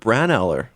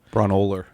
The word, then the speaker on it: Braunohler: We've got Washing Machine by Sonic Youth, Washing Machine by Flipset Fred, UK Washing Machine by Kurt Braunohler, whose name I mispronounced just now. Braunohler.